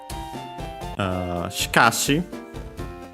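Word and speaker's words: しかし: Uh then he says uh shikashi um which is the contraction which means however accent on the car.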